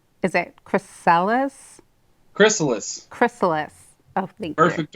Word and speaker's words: Chrysalis: How do you pronounce the name? Is it Chrysalis? Chrysalis.